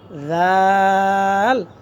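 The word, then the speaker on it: ذال: তারপর খ খ এরপর হচ্ছে দাল এরপর কি দাল এরপর হচ্ছে জাল জিহ্বার গোড়া জিহ্বার আগা থেকে উপরের মাড়ির গোড়ার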